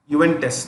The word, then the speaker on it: Juventus: Juventus. The J is silent.